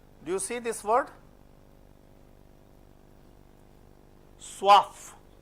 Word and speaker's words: soif: Soif. We learned wa and we pronounce for. Why? In others we didn't pronounce. But whenever C, F, L, R, they come at the end, you have to pronounce generally.